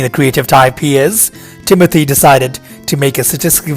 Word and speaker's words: Timothée: His name is French, and technically it's not pronounced the way everyone says it. The real pronunciation is Timothée, Chalamet said in his interview with Frank Ocean.